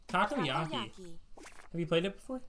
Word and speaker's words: takoyaki: How do you pronounce that? Takoyaki. Takoyaki.